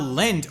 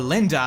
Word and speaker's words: Linde: And now I'm going to be talking about Linde, or Linda, however you want to pronounce her name.